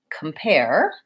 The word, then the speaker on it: compare: And in the word compare, we have a short unstressed syllable and the pair, the second syllable, is stressed. So I have that clear A vowel in this and a schwa.